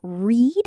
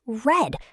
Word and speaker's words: read: Present tense read is pronounced like read. Past tense red is pronounced like red.